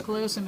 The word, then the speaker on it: callosum: Corpus callosum. Okay, so everybody there was left and right except right now the longitudinal fissure. And the corpus callosum is not paired either.